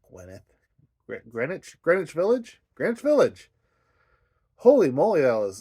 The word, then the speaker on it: Greenwich: Gwyneth, not Gwyneth. Greenwich Village. Holy moly, that was like pulling teeth. I still don't think I'm saying it right, but Greenwich Village, right?